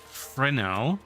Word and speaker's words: Fresnel: Fun fact, President himself pronounced Fresnel.